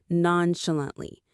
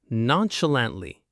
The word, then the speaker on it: nonchalantly: 4 syllables. The stress is on the third one, lant. Non-sh-lant-ly. Nonchalantly.